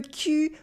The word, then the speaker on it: cul: The trick to pronouncing the U starts with the sound I. You start with the sound I, and you push your lips forward, U, to say U, U, I, U, I, U, I, U.